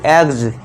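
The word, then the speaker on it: eggs: एग्स नहीं एग्ज। एग्स। इसे जो आप पढ़ते हो एक्स नहीं। इसे क्या पढ़ेंगे? अब यहां पे जा का साउंड देना है। एग्ज।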